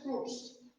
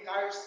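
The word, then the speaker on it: Kurtz: এরপর হচ্ছে ক্রুজ, অনেকে কার্ডস বলে, এক একজন এক এক ভাবে উচ্চারণ করে।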